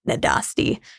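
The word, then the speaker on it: Nádasdy: That's how you say it, Nadasti.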